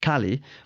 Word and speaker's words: Kaly: My guest is Dan Hillman, co-founder of Kaly, which I mistakenly kept referring to as Kaly with my pretend British accent. Dan later explained that both pronunciations are okay, although it's entirely possible